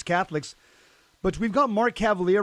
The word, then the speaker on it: Cavaliere: But we've got Mark Cavaliere right now, and that's the way you pronounce his name, Cavaliere.